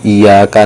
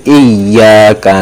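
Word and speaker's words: إِيَّاكَ: Awas, hati-hati, bukan bacanya iyyaka na'budu wa iyyaka nasta'in, kepada matahari lah aku menyembah. Awas, hati-hati, bro, itu ada tasydid, bro. Yang betul itu iyyaka na'budu wa iyyaka nasta'in, kepada Allah lah aku menyembah.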